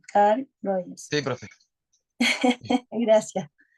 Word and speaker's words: Carl Rogers: de este enfoque es Car Roger, perdón, Carl. Oh, no lo puedo pronunciar bien. Car Rogers. Ahí sí, Carl Rogers.